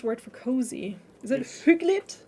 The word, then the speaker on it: hyggeligt: Is it hyggeligt?